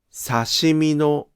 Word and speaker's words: 刺身の: ところが、刺身のは助詞のピッチが下がりません。